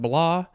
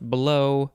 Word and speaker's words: blaw: I would want to pronounce that blah, but it might be pronounced blow, but I think it's blah.